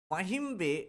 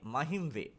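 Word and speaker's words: Mahim: important নয় তারপরে দেখো মাহিম একবার দুবার এক্সামে আসতে দেখেছি একবার দুবার এক্সামে আসতে দেখেছি মাহি নয় মাহিম লোকেটেড বিটুইনলি এটাকে প্রোনাউন্সিয়েশন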